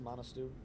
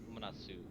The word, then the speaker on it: Manasu: Yeah, it's Manasu, but like Manasu. one. Yeah. T is silent, got it.